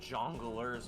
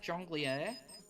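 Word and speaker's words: jongleur: You don't want to deal with jonglers on a regular basis, Hook. I'm pretty sure it's actually pronounced jonglier.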